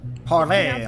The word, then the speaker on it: Parler: So go to Parler or Parlay. Parlay. Parlay, but it's spelled I thought Parler.